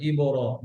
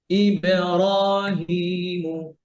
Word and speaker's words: إبراهيم: এরপরে ইবে, অনেকে ইবর বলেন, কি বলেন ইবর না, ইবে, ইবেরাহিমু, إبراهيم إبراهيم ইউবসিরুনা, يبصرون সি সৌন্ড করে সি, يبصرون ইউবসিরুনা, يبصرون মাশাআল্লাহ, বারাকাল্লাহ।